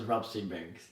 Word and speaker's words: Rootsy Banks: My name, Rootsy Banks, is the opposite of bankruptcy. Everyone gets the pronunciation wrong. Don't feel bad. So it's Rootsy Banks.